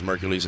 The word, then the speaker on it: Merkules: Merkules is spelled M-E-R-K-U-L-E-S, like Hercules, but with an M and a K instead of H and a C.